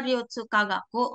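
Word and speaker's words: 流通科学: Nah, terus untuk universitas yang kiri atas ini dibacanya Ryutsukagaku.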